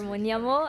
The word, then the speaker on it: Mhonyamo: Mhonyamo, I'm sorry, am I pronouncing right? Yes. Yeah, Sir Mhonyamo, I'm sorry because every